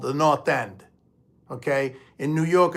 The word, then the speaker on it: North End: Boston because it's the North End of uh of Boston it's that's that's why they call it the North end and we we call it in Boston we call the not end we don't pronounce the